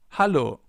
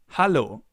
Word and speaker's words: Hallo: But the pronunciation is a little different, so let's listen and repeat. Hallo. Hallo.